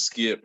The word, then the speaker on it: Skypp: about you yeah so my name is skip i spell it s-k-y-p-p born and raised in